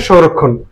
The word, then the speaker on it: সংরক্ষণ: আছে মধ্যন হবে দন্তন শেষে হসন্ত সংরক্ষণ সঠিক উচ্চারণ হচ্ছে সংরক্ষণ এখানে সৌন্দর্য ঔকার আছে ও যদি থাকে আমাকে